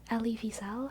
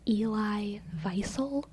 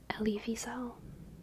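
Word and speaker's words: Wiesel: name Ellie visel Evel Ellie Vel I think that's actually the correct pronun of pronunciation of his name Ellie Vel which in school I learned as Eli visil but I'm pretty sure it's supposed to be Ellie Vel German or maybe he's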